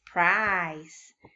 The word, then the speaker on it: price: Very good, and the word is price. We have a silent E that we are not going to sound out.